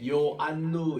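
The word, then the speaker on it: Ἰωάννου: 나오는데 이오타는 그냥입니다 그런데 이오타 플러스 그다음에 나오는 이게 장 모음이에요 그다음에 나오는 장모음 이 장은 가지고는 뭔가 하면은이 오 여기에 요라는 발음을 만들어 줍니다 그래서 요라고 이렇게 요안누 이렇게 읽고 여기서는 우니다 우 발음인데 이오타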